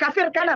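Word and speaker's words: Kafr Kanna: Kafir Kana, bacanya itu kafir Kana. Kafir Kana. Kafir Kana Israel.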